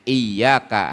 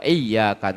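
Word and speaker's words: إِيَّاكَ: Allah kami beribadah wa iyaka nastain'in dan hanya kepadamu Kami memohon pertolongan tapi kalau tidak disidahin ya dibacanya iyaka maka artinya hanya kepada terang atau sinar matahari gitu jadi artinya udah lain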